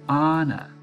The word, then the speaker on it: Anna: "I speak to Anna?" I asked, pronouncing her name the American way. "Anna?" the man's voice hesitated. "Oh, you must mean Anna."